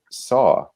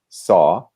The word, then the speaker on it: saw: it is the difference so in american english it's much more open the mouth is more open and it's a brighter sound if that makes sense abyss in hella saw